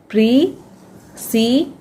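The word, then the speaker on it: precede: तो इसे हम पढ़ेंगे प्रीसीड, प्रीसीड, लास्ट में ई है वो साइलेंट रहेगा, प्रीसीड मतलब आगे आना, आगे होना।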